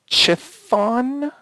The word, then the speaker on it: Chthon: It's Chthon. Does everyone know who he is? He's a Marvel. Chthon. Okay. Chthon. Yes. Chthon.